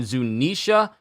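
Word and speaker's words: Zunesha: zunisha and I know I keep saying zunisha but it it actually is zunisha even though it's spelled with a Zu n s ha so you could say Zuna but it's zunisha it's zunisha but the age is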